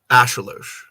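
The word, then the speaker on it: axolotl: off the traditional pronunciation ashel oh is that what it it is actually said that's that's the Inc and pronunciation the X because the x is a sh sound that's right I I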